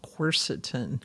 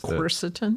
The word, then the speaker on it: quercetin: And so there's a helper drug, another helper drug called Quercetin.